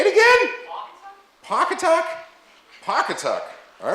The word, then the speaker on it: Pawcatuck: Pawcatuck.